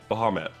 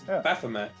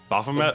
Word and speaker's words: Baphomet: gonna bring to the table oh it's a bahamat i think uh they they clarified how to pronounce it earlier and uh i still i still get messed up so apologies in advance it's a demon it's baphomet baphomet oh i only i look i'm a